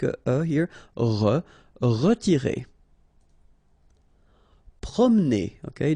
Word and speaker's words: promener: Promener. Okay, don't insist on this here. Okay, so it will go like promener, promener. Forcer.